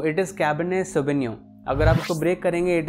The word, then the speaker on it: Cabernet: अभी हम लोग डिस्कस करते हैं की इसको प्रोनाउंस कैसे किया जाता है सो इट इस कैबिनेट अगर आपको ब्रेक करेंगे इट इसे कैबिनेट सो